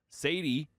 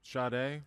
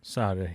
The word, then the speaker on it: Sade: Sadie, Promise, on vinyl. Go win it. And he's also... go ahead. Sade? Sade.